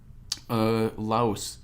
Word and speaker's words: Lao: Lao, that's technically how it's pronounced.